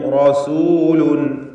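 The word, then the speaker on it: رسول: ഇന്നി ലക്കും റസൂലുൻ. റസൂലുൻ, റായിനെ തടിപ്പിച്ച് തഫ്ഖീം ചെയ്ത് ഉച്ചരിക്കുക.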